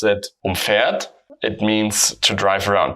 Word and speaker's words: umfahren: And if we pronounce it umfahren, we have the stress on the prefix, and then we separate it.